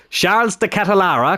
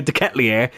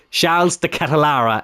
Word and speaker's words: Charles de Ketelaere: So, Charles de Ketelaere, because I wanted to say de Ketelier, Charles de Ketelaere is how you pronounce it.